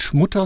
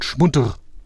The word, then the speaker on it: Schmutter: Das heißt nicht Schmutter, sondern Schmutter.